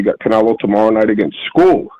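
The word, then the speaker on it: Scull: Canelo tomorrow night against school. His name's school. It ain't skull. My god, how the hell do you get school out of Skull?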